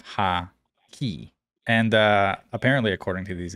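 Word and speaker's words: Haki: Broken, you mispronounced the word hockey, saying hakai instead of ha-ki.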